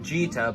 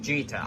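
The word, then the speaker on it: Djeeta: It's pronounced Gbfa, but it's spelled D-J-E-E-T-A. But it's pronounced Gbfa. I actually thought it was Cheetah like the first 7 or 8 times I heard it.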